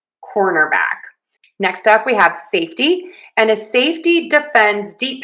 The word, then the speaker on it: safety: Same pattern here. Stress syllable number one. Safe. Safety. Safety. Safety. Safety. I'm saying a flap T here, but you can also say a T. Safety. Safety. Safety. Safety. Safety. Either is fine.